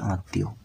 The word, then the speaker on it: আত্মীয়: বলে বা আত্মীয় বলে তোরা উচ্চারণ করবে আত্মীয় ওকে ঘড সূর্য মন্দির